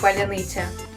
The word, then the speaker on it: паляниця: стосується них у слові паляниця у росіян н завжди м'яке якщо далі йде и тому такі звуки для них просто неприродні і вони не можуть їх вимовити правильно Утім філологи стверджують що